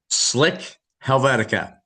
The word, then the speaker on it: Slik Helvetika: How do you pronounce the name of the band? Slick Helvetica. Helvetica.